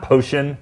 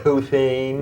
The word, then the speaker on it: Posehn: friends they've gone uh it's not potion excuse me the name poan yes Germanic thank you yeah no